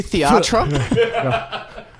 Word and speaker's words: theatre: It's actually theatre. Right. The H is silent or something.